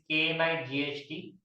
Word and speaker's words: knight: And for the knight, though the spelling of the knight is K-N-I-G-H-T, K is silent in knight, and K we use for the king.